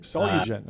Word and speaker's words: Solugen: We hate messing up pronunciations on this show. How are you doing? Good. It's It's Solen. Solugen.